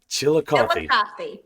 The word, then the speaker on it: Chillicothe: and I can't for the life of me pronounce the one in Ohio. Chillicothe. Chillicothe? Yeah. Chillicothe.